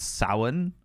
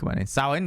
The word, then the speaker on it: Samhain: It's spelled Samhain, but it's pronounced Samhain or something like that.